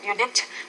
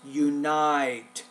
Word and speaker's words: unite: When a laughter is said, it is a prelude to unite people during difficult. You want to say not unit, it's unite, binds. So the this I sound is a little bit hard for you.